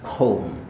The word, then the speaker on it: comb: Jadi sekali lagi comb. Next. Nah, ini juga mereka masih memiliki kesamaan, yaitu B-nya tidak dilafalkan.